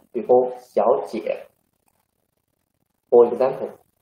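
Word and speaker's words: 小姐: There are two third tongues. So 小 we should read 小姐 second tongue.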